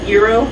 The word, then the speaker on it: gyro: And so you got your, I think I'm pronouncing it right, gyro? Yeah, the gyro. It's called gyro.